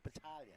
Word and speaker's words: Battaglia: You don't pronounce the G's in Italian. Don't you? It's Battaglia.